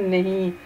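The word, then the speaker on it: know: एक का एक नो कहते हैं एन ओ नो, जिसका मतलब होता है नहीं। जानने वाले नो के स्पेलिंग है के एन ओ डब्ल्यू, नो।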